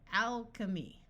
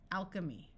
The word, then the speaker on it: alchemy: some more words where CH sounds like the letter k Anarchy Anarchy Alchemy Alchemy Anchorage notice that the